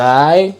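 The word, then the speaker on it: ز: raw okay and then this one z z the z sound without your tongue and the last letter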